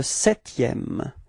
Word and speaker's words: septième: And then le septième. Le septième. Keep in mind that you don't pronounce this P, okay?